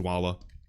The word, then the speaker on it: Dwolla: a also Dwolla no surprise and yes it's pronounced Dwolla um per the CEO and right here guys